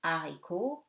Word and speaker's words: haricot: Okay, and something very easy, H is always silent. Au, haricot, heure, dehors.